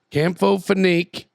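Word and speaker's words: Campho-Phenique: just mispred H Campo phoque right here boys Campo phenique is a powerful healing gives cold sores a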